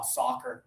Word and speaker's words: soccer: Touch right here. Ah ah ah soccer. Soccer.